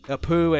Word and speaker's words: Apu: But, and she had a name for short, Apu. It rhymes with Ramu, or something.